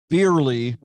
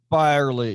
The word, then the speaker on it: Byerly: they gonna wait on Beerley, if I'm saying it correctly. Is it Byerly? Byerly, yes.